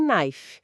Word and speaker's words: knife: Edge e o K que não se fala em knife.